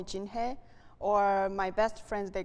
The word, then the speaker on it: Jinhye: the English name so if you can pronounce in Korean name you can call me Jinhae or my best friends